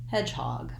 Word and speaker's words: hedgehog: i have letter o says vowel ah in the word hog so i'm going to write that as an aw just like in the word law i also want to watch out for the sound at the end that it's voiced so i have to hold this vowel a little longer so it doesn't sound like hawk but hog hog hedgehog once i can